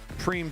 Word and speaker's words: prime: don't the prime donations looks like prime when you look at the way it's spelled preem donations at the top